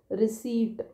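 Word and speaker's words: receipt: है रिसी ये है पी का साउंड नहीं है इसमें यहां पे ये जो पी है यह साइलेंट है रिसीप्ट है ना तो रिसीव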